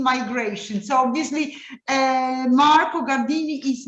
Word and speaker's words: Gardini: am I pronouncing right it should be jardini no Gardini Gardini Gardini so I'm okay and